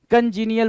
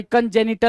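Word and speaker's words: congenital: ना इसको क्या बोलेंगे कंजी नियल बोलते क्या जो जम जन्म जात हो कंजी नियल सॉरी कंजे निट बोलते हैं कंजी नियल नहीं वो स्पेलिंग दूसरी होती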